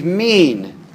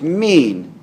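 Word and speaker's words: מין: The Hebrew word for kind is min. That's how it's pronounced in English. And it's spelled M-I-Y-N in English. Pronounced min.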